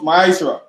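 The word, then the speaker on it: מעשר: verses 8 to 10 means 10th in the hebrew and is pronounced maisha 10 of every penny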